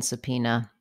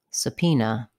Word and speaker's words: subpoena: how to pronounce subpoena letter b is silent in subpoena the letters o e say the e vowel subpoena letter a says vowshwa like a subpoena subpoena have a word